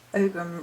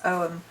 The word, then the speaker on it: Ogham: to be the shadow om so apparently I pronounced ogum wrong it's om uh and therefore I will attempt to remember